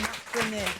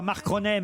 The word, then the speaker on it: Marconnet: C'est Marc Cornet. Et alors, vous ne prononciez pas très bien, c'est Marconnet. Sylvain Marconnet, hein, pas Marconnet.